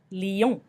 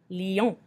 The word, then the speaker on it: lion: Lion. Lion. Here we can see the L-I, the I makes the E sound that we discussed before, and on makes the on sound at the end.